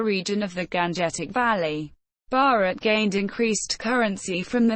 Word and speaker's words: Bharat: The term Bharat, pronounced listen, mentioned in both Indian epic poetry and the Constitution of India, is used in its variations by many Indian languages.